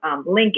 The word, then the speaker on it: LNK: So first, in terms of the entrepreneurial side, I have a concept marketing company that is called Link Agency. It's spelled phonetically, LNK.